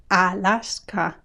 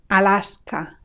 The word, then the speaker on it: Alaska: Alabama Alabama Alaska Alaska three times we say a Alaska can you hear the difference with English Alaska Alaska Arona Arona in